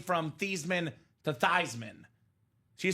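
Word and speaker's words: Theismann: mad that Joe changed name from thasan to Theisman she said no I was okay with it it's actually pronounced tyman we're all living a lie all along so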